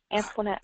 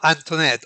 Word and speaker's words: Antoinette: It's pronounced Antoinette, actually. Antoinette.